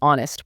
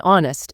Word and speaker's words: honest: Okay, the correct choice here is A, she's an honest person. Even though honest starts with an H. Exactly, because the H in honest is silent.